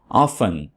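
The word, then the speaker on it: often: ऑफन, दोस्तों ऑफन में T silent है। इसको वैसे तो ऑफ्टन भी पढ़ा जाता है और ऑफन भी पढ़ा जाता है।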